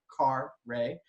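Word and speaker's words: Carré: of an orange bitter this is a blue Caray I did put that lovely pronunciation for everyone but-- kar rahe but it also means French Quarter it's an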